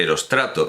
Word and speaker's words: Eróstrato: Mas Erostrato, Federico Carlos Sainz de Robles ha modernizado la acentuación, por lo tanto entendemos que el verso pide que se pronuncie Erostrato.